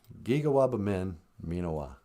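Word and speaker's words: Giga-waabamin miinawaa: go all right um how do you say goodbye in Ojibwe well we say gigawab minawa I will see you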